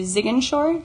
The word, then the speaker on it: Ziguinchor: And she spent the first week in Dakar observing kindergarten teachers, and then traveled to Ziguinchor, did I say it correctly?